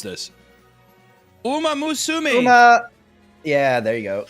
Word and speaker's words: Uma Musume: How do you pronounce this? Uma Musume. Uma. Yeah, there you go. Uma Musume.